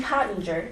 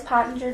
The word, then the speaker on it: Pottinger: Pottinger. Am I pronouncing that right? Yes. Is it Pottinger? Yep, Pottinger.